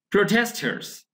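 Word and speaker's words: protester: তো এখানে ব্রিটিশ উচ্চারণকে আমরা যদি প্রোটেস্টা বলি তাহলে কিন্তু আর উচ্চারণ করা যায়। যদি এস না থাকতো আমরা বলতে কি বলতাম? প্রোটেস্টা। প্রোটেস্টা মানে আর বলতাম না। ঠিক আছে, এটা কিন্তু ব্রিটিশ উচ্চারণ।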